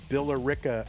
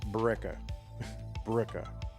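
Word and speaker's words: Billerica: Kind of like the names Bill and Erica, right? You're supposed to say Billera, but of course locals say Ba. Bricka Sometimes, you know, if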